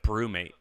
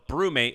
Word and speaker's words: BruMate: really into okay um have you heard of brewmate no and i'm not a coffee drinker is it a coffee drinking thing it doesn't have to be so okay so brewmate it's spelled bru m-a-t-e their first thing was